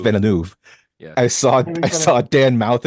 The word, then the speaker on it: Villeneuve: earlier this week between Christopher Nolan and Dennis Villeneuve, and they were talking about their what they like to do, their style. Wait, what is it? Villeneuve? Denny It's Denis Villeneuve. Villeneuve.